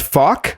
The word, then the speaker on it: Falk: Hey everyone, I Oh, by the way, your name is pronounced faulk or folk?